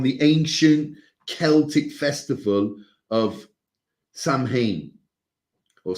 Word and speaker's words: Samhain: Okay, so Halloween originates from the ancient Celtic festival of Samhain or Samhain. Okay, the correct pronunciation.